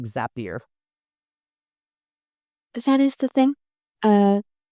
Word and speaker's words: Zapier: I pronounce it Zapier, not Zapier.